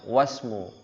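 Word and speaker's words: واسم: Tapi kalau dia ada huruf sebelumnya seperti huruf waw, maka dibacanya wasmu. Jadi dilangsungkan ya ke huruf setelahnya.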